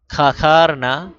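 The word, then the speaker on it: کھکھارنا: একে অপরকে ইঙ্গিত করা, খাখারনা গলা ঝাড়া দেওয়া, খাখারনা অর্থ কি উচ্চারণটা দেখেন, খা খার না, নুন সাইলেন্ট, খা খার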